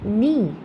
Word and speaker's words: knee: The third one is knee. Here the silent letter is K.